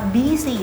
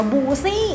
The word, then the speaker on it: busy: เขียน ดี US Y ทำ ให้ น้อง ๆ บาง คน เนี่ย อ่าน ว่า บู๊ซี่ ซึ่ง มัน ไม่ ใช่ นะ คะ ห้าม อ่าน มาบูซี่ นะ คะ busy นะ คะ busy OK the Line